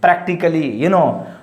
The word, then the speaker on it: practically: Practically, not practically, not practically A letter is silent.